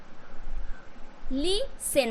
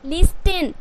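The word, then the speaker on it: listen: अगर टी उच्चारण करोगे तो क्या हो जाएगा, मैच, कैच, बैच, ऑफ्टेन, लिस्टेन, इस तरीके से। तो ये गलत हो जाएंगे, आपको टी जो है वो साइलेंट करना है।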